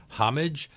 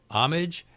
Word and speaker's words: homage: pronounce it homage but they spelled it with an H and they just didn't pronounce the H and from there the